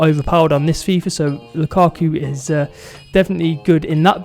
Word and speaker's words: Lukaku: quite a controversial strike i'd say in ramelu lukaku if i can pronounce his name correctly some people don't like